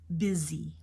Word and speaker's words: busy: h z e e busy it's not Bey it's B busy busy short eye busy I'm always busy online